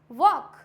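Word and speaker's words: walk: वॉक, चॉक, ये क्या है? एल यहाँ पे साइलेंट है।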